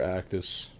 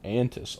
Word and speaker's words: Antis: Actis. Oh, wait. I've been saying your name wrong the whole time. Antis.